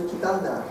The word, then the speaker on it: Кетанда: тракта и посмотреть посёлок Китанду или Китанду. Вот не знаю, как правильно, но слышала, что Китанда. Ударение такое.